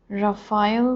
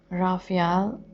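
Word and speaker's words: Raphael: wow nine of रफाल रफाल को हम राफिया भी बोलते हैं तो जैसा आप प्र प्रोनाउंस करते हैं आप उसके साथ उसे ले सकते हैं इंटरेस्टिंग आपके लिए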